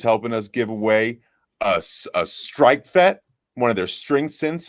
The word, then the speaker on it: Streichfett: That's super hard to pronounce. It is Streichfett.